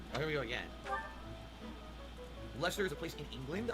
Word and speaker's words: Leicester: I never knew it was pronounced Leicester, because it's a lot of silent letters there.